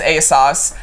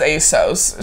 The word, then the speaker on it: ASOS: it I was like is it a sauce yeah like what I would think so yeah everybody in London says a sauce everybody in the US says ASOS so whatever if as